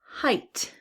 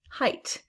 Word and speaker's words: Height: Height. Height. All right, now we have a GH. Is it making the F sound? No, that sound does not show up in this word, so it must be silent.